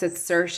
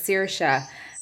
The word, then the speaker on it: Saoirse: I'm from Ireland, and she pronounced it Saoirse, as in, like, she always says Saoirse as in inertia, but I come from the west of Ireland and I know it as Saoirse, and it means freedom,